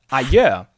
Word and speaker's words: adjö: So we have adjö. Some people would use that, I guess. Adjö. And the D is silent here. The D is silent. It's the same as adieu or adios, whatever.